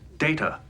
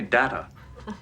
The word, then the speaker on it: Data: My name. It is pronounced Data. Oh? You called me Data. What's the difference? One is my name. The other is not.